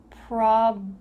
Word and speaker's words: problem: That B and L together is the focus of this word. You want to make sure that you're pronouncing it correctly. So let's practice the word problem, blum, blum.